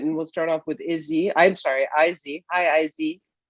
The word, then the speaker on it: Izzy: My name is Izzy. A lot of people mispronounce it. So just to make it easier for you, it's pronounced like iPhone.